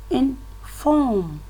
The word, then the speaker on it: inform: In the second column here, we have where the stress is on the second syllable. For example, inform. Inform. You can see the force is on the second syllable. That is how it should be pronounced.